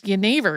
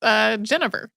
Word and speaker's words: jenever: Yeah, because jenever is spelled Genever. So if you're reading it on a page as an English speaker, it looks like it's Genever.